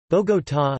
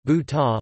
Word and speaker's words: Bogotá: Bogotá, Spanish pronunciation, Bu-ta, listen, officially Bogotá, Distrito Capital, abbreviated Bogotá, D.C.,